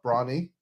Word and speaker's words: Bronny: Yeah, like LeBron, Bronny. Oh my god. Like My Little Pony fans. Yeah, Bronny. That's an unfortunate name. Anyway. That's what everyone calls him, Bronny. Bronny. Because he's tiny. Tiny Bronny.